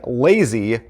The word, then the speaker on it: LZY: they are called the lazy deck now it's actually spelled l z y l z y but the a is silent non-existent it's called a lazy